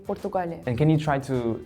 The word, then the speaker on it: Portugal: you pronounce my country when we say our country we say Portugal we say pugal and can you try